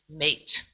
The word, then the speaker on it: meat: talked about the word meat so we pronounced m-e-a-t but they would pronounce it mate so that kind of